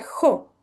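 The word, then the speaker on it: ὁ: Entonces, este Omicron con espíritu aspirado se pronuncia jo.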